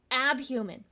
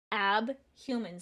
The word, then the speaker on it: Abhuman: Abhuman. Abhuman. Spell it with me.